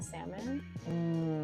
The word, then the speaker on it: salmon: them is um One People pronounce the L in Salmon I hate you do